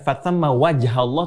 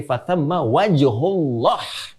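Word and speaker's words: فَثَمَّ وَجْهُ اللَّهِ: Perhatikan betul cara baca, lihat harakatnya. Bukan fathamma wajhallah, tapi fathamma wajhullah.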